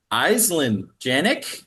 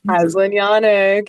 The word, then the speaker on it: Aislinn Janek: I'm your host, David Stickle, and today I'm joined by Eelen Janick. Elyn Yanik. Yes, gez, I pronounced that horribly.